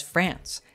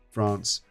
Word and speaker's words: France: The word France is pronounced slightly differently by Brits and Americans. As an American, I would say this word as France, as opposed to France.